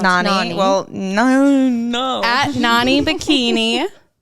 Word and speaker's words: Nani: a cover up or maybe Hit a up Nanny cosplay Bikini. costume Yeah, well, it's Nani. It's pronounced Nani.